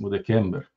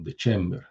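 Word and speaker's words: December: o 9 novembro o 10 de kember ou de chember né pronuncia eclesiástica eh 10º mês depois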